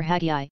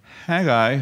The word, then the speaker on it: Haggai: Haggai, for your information, is not pronounced like that. It's minus an H, actually. Their H was silent, depending on where you find it in the word, and often when it's the beginning of the word. And so pronounce Haggai without the H, and what does it sound like? Sounds like an Aggie, right?